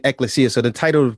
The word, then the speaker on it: ekklesia: the same thing but i pronounce it ekklesia and i spell it e k k l e s i a it's the greek term for the word we call church and i'm saying ecclesia so the title of